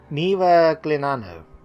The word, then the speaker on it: Miragliano: Probably pronounced that wrong. How do you pronounce it? Miragliano.